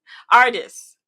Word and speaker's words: Ardyce: Hardest, is that how you pronounce it?